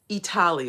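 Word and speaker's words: Eataly: marketplaces slash restaurant spaces called Italy or Italy, which is spelled Eatly.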